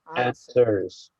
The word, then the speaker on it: answers: Don't forget the W is silent, so we have answers.